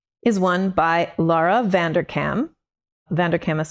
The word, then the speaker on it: Vanderkam: Vanderkam is spelled V-A-N-D-E-R-K-A-M.